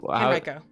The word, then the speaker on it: Henrico: Henrico. Okay, there we go. By the way, if anyone doesn't like that pronunciation, you're wrong.